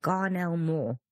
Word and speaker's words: Garnell Moore: to be talking about Garnell more that's how you pronounce it yeah come on gar